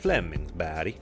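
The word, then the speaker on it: Flemingsberg: in the Stockholm area called Flemingsburg or as the sweds pronounce it Flemings B and that would be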